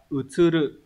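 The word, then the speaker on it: 移る: Chữ di này đọc là utsuru.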